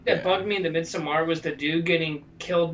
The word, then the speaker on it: Midsommar: the way, it's definitely Midsummer. I know. I know it's not how it's spelled, but it's definitely Midsummer. I'm sure. I'm just going with the Scandinavian thing.